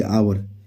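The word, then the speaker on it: hour: आगे आवर, H silent होता है तो यहाँ पे क्या लगेगा एन, तो ऑप्शन बी जो होगा सही उत्तर हो जाएगा।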